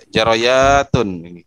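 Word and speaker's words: جاريات: Jaroyatun. Ya, jaroyat bukan jariyat ya.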